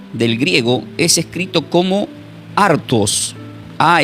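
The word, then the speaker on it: ἄρτος: ya lo hemos aprendido hace un momento que es acusador, pero la palabra pam del griego es escrito como artos.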